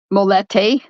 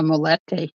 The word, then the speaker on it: molete: have this dish down there um it's called molete and it's spelled m o l l e te and